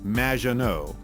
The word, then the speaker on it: Мажино: However, you have mispronounced my name. It's Madge, which rhymes with badge, as in duh, and no as in more than you. Mажино.